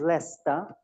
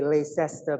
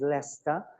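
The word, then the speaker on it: Leicester: Uh pronunciation is Leester, Leester. Uh people tend to say Leester but it's not Leester, it's Leester.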